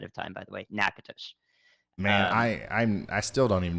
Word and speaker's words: Natchitoches: I got that pronunciation for you ahead of time, by the way. Natchitoches.